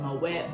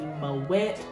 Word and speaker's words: Moët: of people pronounce it my wet way i like saying my way because it makes you feel fancy but the pronunciation is actually mo wet um i've done a